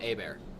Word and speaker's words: Hebert: Team A Bear. A-Bear. Yep. Yep, it's French. I'm sorry. Yeah. Is No, that how it's everybody- spelled though? It's spelled Hebert, yep. Yep. But then it's pronounced Hebert.